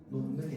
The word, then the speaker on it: 놓는: 자, 그런데요, 이 히읗 받침 뒤에요, 히읗 받침 뒤에 니은과 미음이 오게 되면요, 히읗은 니은으로 발음하게 됩니다. 자, 그래서 예시 놓는 발음 어떻게 되느냐? 놓는이 됩니다.